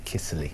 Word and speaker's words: Kiszely: is it's a Hungarian surname and you can you can only really pronounce it properly if you've got a really deep Hungarian voice and and the correct